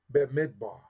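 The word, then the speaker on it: במדבר: for that but nonetheless in Hebrew you say b midbar b midbar Bidar B me B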